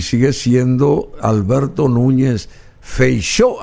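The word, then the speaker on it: Feijóo: sigue siendo Alberto Núñez feichó así se pronuncia el apellido es un poco raro de pronunciar porque Bueno es un apellido de origen gallego o exactamente admitirle en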